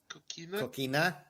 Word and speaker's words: Coquina: It is Coquina. I'm not going to say it again. Coquina?